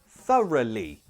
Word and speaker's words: thoroughly: and bottom teeth okay those vowel sounds we've got up as in up and this one is a schwa sound thora thoroughly thoroughly first say it